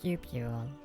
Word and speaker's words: cupule: And it sounds weird to say and like it's wrong, but I think the word is cupule. It is spelled C-U-P-U-L-E.